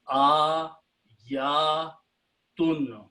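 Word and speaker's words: آياتٌ: So it becomes a, ya, tun.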